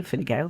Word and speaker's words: Fine Gael: I was asked by Fine Gael, which you pronounced fantastically.